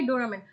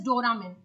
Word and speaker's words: Doramin: shot through chest by Doraemon. Did I say the son's or the father's name wrong? Are you guys paying attention? So see, the son's name is Dane Varys, and this father's name is Doramin.